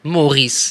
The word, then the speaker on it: Morice: Est-ce qu'on le prononce Maurice ou Mo.Rice? Maurice.